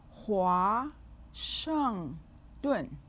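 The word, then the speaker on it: 华盛顿: 华 has a 2nd tone. It has a compound final. 哇. 盛 has a 4th tone.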